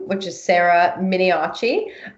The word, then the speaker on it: Miniaci: name which is Sarah Minnie achi Minnie oh she does not have an H despite the pronunciation mi ni a CI